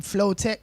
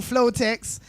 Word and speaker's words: Flowtec: No, it's flow, in it, like the flow, and it's text like a brah, or technical, or technician, whatever.